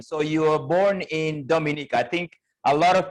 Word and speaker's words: Dominica: And notice I pronounce it Dominica with the accent on the first syllable and not Dominica.